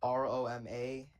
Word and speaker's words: Romanelli: How do you spell it? R-O-M... R-O-M-A-N-E-L-L-I.